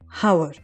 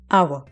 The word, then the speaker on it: hour: Spelling जरी एच पासून सुरू होत असलं तरी त्याचा उच्चार आ पासून होतो. उच्चाराकडे लक्ष देणं खूप महत्त्वाचं आहे. इट्स नॉट हावर, इट्स आवर.